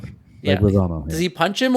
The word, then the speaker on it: Leguizamo: about stealing John Wick's car, and then John Leguizamo, I can never pronounce his name, like literally, I think he punches him. Leguizamo. or- Yeah. Leguizamo, yeah.